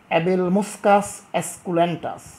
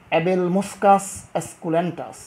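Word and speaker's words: Abelmoschus esculentus: ঢ্যাঁড়স, অ্যাবেল মুসকাস অ্যাসকুলেন্টাস, অ্যাবেল মুসকাস অ্যাসকুলেন্টাস।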